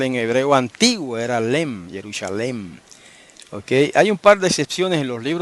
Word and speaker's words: Jerusalem: de la gramática hebrea él dice que esa forma defectuosa se debe pronunciar jerusalem y no yerusalem como la ponen los los masoretas discúlpenme que había olvidado